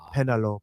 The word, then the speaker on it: Penelope: He pronounces it the Greek pronunciation. Penelope.